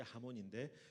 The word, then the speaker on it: 하몬: 하몽이라고 발음하는데 정확한 발음은 하몬 N입니다. N. 하몬이 맞거든요.